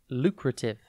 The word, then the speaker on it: lucrative: tv today's word is lucrative it is pronounced and it is spelled l u c r a t i v e think luke then rat and then if lucrative